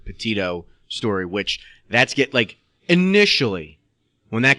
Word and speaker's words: Petito: Gabby Petito, that's how you say her name, Petito story, which initially, when that came out, for me, it was like cut and dry, boyfriend.